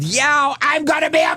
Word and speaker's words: Yao: Now I got cow rhyming with Yao.